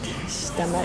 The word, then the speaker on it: stomach: Well, we might think something like that, thinking about very common sound spelling correspondence, but actually this is pronounced stomach.